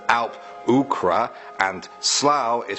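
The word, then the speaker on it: Alp-luachra: Next we have Sully1017 who says Derg Du is pronounced Darug Dua, Alp Luatra is pronounced Alp Ukra, and Slough is pronounced Slua.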